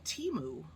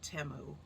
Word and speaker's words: Temu: a uh auction and then I ordered from Teemu or temu pronounced some cool stickers that say poison or